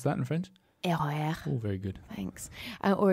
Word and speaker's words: RER: Can you pronounce that in French? RER.